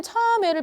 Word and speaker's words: 참외: 요새는 참외를 많이 안 좋아하는 것 같은데? 선생님 지금 어떻게 발음했냐면 참외, 그치? 어떻게? 입술이 안 바뀐 채로 발음을 했어요.